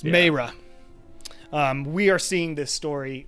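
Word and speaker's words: Maera: I think sure is is how do you spell that M II ma AE RA all right oh it's Mara we are seeing this story from vero and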